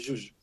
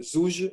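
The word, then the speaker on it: زوج: Et en général, en dialecte marocain aujourd'hui, on dit jouj, jouj, avec deux J. Mais selon les dialectes au Maghreb, juj, juj, zouj, jouz, toutes les formules sont possibles. En Algérie, par exemple, les gens disent zouj, c'est souvent zouj. Mais si vous allez en Libye, à Tripoli, le parler musulman à Tripoli dit zouz.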